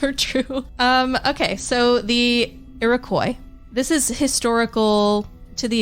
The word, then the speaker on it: Iroquois: There was another tribe called what I believe is pronounced the Iroquois.